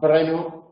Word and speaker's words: Brno: Hay una ciudad que se llama Brno, en la República Checa o Eslovaca, no sé dónde, famosa por un circuito de... Esos son dos sílabas, la sílaba br y la sílaba no, pero en español no tenemos este tipo de sílabas.